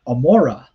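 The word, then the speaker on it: עמורה: is the fact that in hebrew it's actually sodom and amura so here it says so instead of gomorrah you have amora which somehow in greek the letter ayan becomes a gamma and that gets transliterated as gamora in latin and every european language ever since it is most likely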